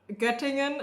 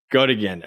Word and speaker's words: Göttingen: How do you pronounce that? Göttingen. It wasn't too bad, actually. Göttingen.